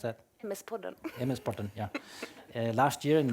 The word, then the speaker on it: MS-podden: How do you pronounce that? MS-podden.